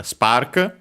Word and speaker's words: スパーク: Now we see uh spark spark. First we have the Japanese pronunciation of spark.